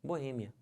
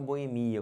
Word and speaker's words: boêmia: assim uma boa hein a sílaba tônica é esse e que já tá até acentuado não pode falar Boemia como as pessoas falam tá você vê que tem até o acento aqui justificando essa pronúncia correta tá bom beleza gente